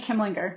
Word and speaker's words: Kimlinger: Kimlinger.